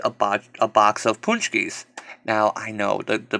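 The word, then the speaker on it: pączki: and punch keys or like I said properly pronounced punchy are these like fried doughnut things ungodly delicious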